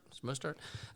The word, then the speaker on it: Mostert: The 49ers, you have Raheem Mostert. I believe that's how you pronounce it. Yep. Mostert.